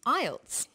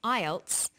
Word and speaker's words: IELTS: is called an acronym with an acronym we don't pronounce the individual letters we pronounce it as a word so we say IELTS not i e l